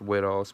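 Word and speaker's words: Whitall's: the on the back it says wit alls Patton or white alls Patton however you I I'm pretty sure it's pronounced WID alls patent June 18th 1861 and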